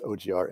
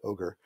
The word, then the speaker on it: OGR: than than goodle and people will variably pronounce it as ogr and ogre it may stand for